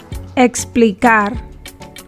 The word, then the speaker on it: explicar: english si lo fono when the ekis is in between letters in a spanish word the ekkis is pronounced like the english ks sound but softer or less explosive exito explicar however there are other